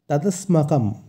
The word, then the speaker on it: তদস্মাকম: এর উচ্চারণটা আমাদের একটু লক্ষ্য করতে হবে। এখানে আছে দন্ত স, তাই স এর উচ্চারণটা হবে স, স কিন্তু নয়, স। তদস্মাকম, এবং শেষে যেহেতু অনক্ষর আছে তাই অনক্ষরের জায়গায় ময়ের উচ্চারণ হবে।